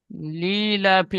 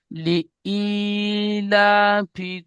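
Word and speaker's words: لِإِيلَافِ: একটা আয়াত পড়েন লিলাফি বলছে লি হামজা ইয়াজের ই পরিষ্কার উচ্চারণ করেন। লিইলা ফি কুরাইশ বলেন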